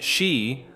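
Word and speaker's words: 四: The tunnel's measurement of exactly 444 meters holds particular significance in Japanese culture, where the number 4 is pronounced shi, identical to the word for death.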